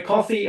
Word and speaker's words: KOFY: So coffee, it's KOFY.